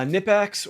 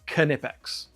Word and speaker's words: Knipex: yeah apparently it's pronounced neex no it's not it is pronounced knipex you pronounce the k it's somebody's name um if you go